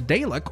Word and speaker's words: Dalek: be coming along with the day lock or the Dalek I think is the more proper pronunciation of that we are also going